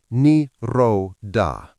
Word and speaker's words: Nirodha: Pronounced Nirodha.